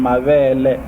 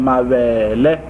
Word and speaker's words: mavele: So that one has like, the breast one has like a lower tone, mavele, and then mavele, it's maize.